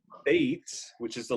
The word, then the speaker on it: Beit: see the Hebrew letter Beit, B-E-T or B-E-T-H, and it is pronounced in English with a B sound or a V sound.